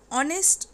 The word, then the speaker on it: honest: Honest man. Here H is not pronounced. We say here H is silent.